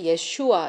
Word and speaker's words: 예슈아: 우리가 믿고 있는 데요 예수님도 히브리어로 하면 예 슈아 입니다 그런데 우리는 예 슈아가 아니라 예수 라고 부르고 또 미국은 게다가 예수를 제의를 지으 스스로 발음을 해서 지져스 라고 하는데 그러면은 예수와 의 이름으로